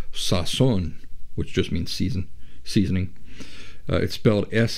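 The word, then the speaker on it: sazón: I like this Latin seasoning instead it's called Sasson which just means season seasoning it's spelled s-a-z o with an accent mark in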